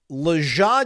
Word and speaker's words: Lajae: The pronunciation phonetically spelled out as Luh, la, dash, Zhah. And then parenthetically says soft G. I guess Jah, yeah, Zhah.